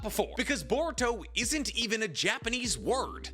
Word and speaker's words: Boruto: name Boro is actually based off how Japanese people pronounce the English word bolt as in lightning bolt or the electric dog because Japanese people pronounce the English word for bolt boruto or if you say